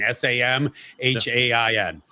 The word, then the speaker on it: Samhain: It's actually spelled basically Samhain, s a m h a i n. It but it's pronounced Samhain.